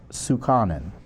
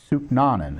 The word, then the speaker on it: Sooknanan: Judge Sparkle L. Sukanan. Suknan, excuse me. Suknan. S O K N.